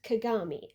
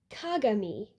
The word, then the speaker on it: Kagami: a main character named Kagami. Do you hear the difference? It's It's about which syllable you stress. I was just asking you what you thought I should do about Kagami, but it's consistent within each show.